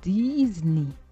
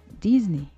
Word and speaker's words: Disney: Il faut plutôt prononcer Disney. Disney.